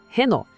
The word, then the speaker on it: Renault: A gente vê o mesmo padrão aqui, igualzinho em Peugeot ou as letras no final, nesse caso LT, são silenciosas. O nome termina no som do O. A pronúncia é limpa, direta, Renult.